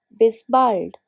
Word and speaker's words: bis bald: Bis bald. Be careful with the pronunciation.